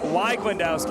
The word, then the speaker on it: Weiglendowski: And Sarah Weiglendowski is the correct way to pronounce that name.